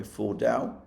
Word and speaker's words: Fordow: I believe that is the correct way to pronounce it, by the way, Fordow.